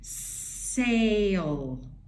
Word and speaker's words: sail: does the talking so which vowel sound do you hear sail sail it's the long a sound sail sail we don't hear that i at all because the second vowel is silent but it makes this